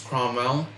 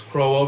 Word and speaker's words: Crowell: In the unlikely event that we can take out I don't know why I pronounce this Cromwell. But it's Crowell.